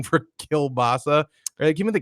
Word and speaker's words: kielbasa: do gyro do you have like a weird pronunciation for kielbasa give me the K bas cabassa cabassa kielbasa polish Tim yeah half polish half